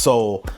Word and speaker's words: Seoul: It is Seoul. It's pronounced Seoul.